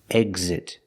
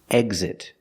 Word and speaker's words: exit: We see that after the X, it's a vowel. There's a vowel after the X. That means you pronounce the X with a voice sound. Exit, example.